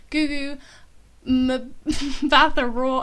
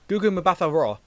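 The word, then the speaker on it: Gugu Mbatha-Raw: be honest um it's a 2013 film starring gugu ma the raw i'm so sorry i definitely said that wrong what are you doing with your pronunciations over the last few weeks what is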